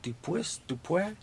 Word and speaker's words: Dupuis: I believe it's pronounced Dupuis. I think it's French.